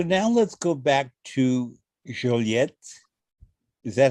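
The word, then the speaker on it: Joliette: So now let's go back to Joliet. Is that how you pronounce it? Joliet, absolutely.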